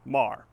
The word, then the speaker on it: Meagher: For example, Choteau County is spelled differently than the town of Choteau, and Meagher is pronounced Mar.